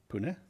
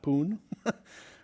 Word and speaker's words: Pune: So this is actually pronounced Pune, right? Pune, not Poon, right? Or even Pune, although sometimes that's acceptable.